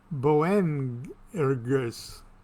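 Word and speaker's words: Boanerges: enormous as simon jesus laughed and called them bowen ergus i'll spell that for you b-o-a-n-e-r-g-e-s sons of thunder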